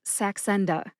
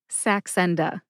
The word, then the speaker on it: Saxenda: together and you get Saxenda. Which syllable do you emphasize? Great question. I tend to emphasize that middle syllable N. See if you can hear that emphasis when I say it again. Saxenda.